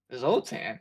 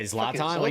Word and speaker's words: Zlatan: Zultan. Yeah. Zlatan.